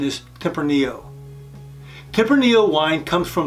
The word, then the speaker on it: Tempranillo: with would be tempranio many people call this tempranalo but the correct pronunciation is tempranillo Tipper Neo wine comes from the the tempranillo